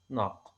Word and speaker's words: نق: We put N and قاف together and pronounce them as a unit, as a one unit, as a meaningful unit, as ناق.